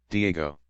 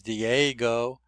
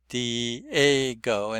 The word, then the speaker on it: Diego: say that word is Diego. Dgo. Now I should have pointed out that the stress is on the a the second vowel digo.